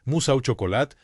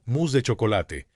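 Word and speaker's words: mousse au chocolat: No, papá, se dice mus au chocolat, no mus de chocolate.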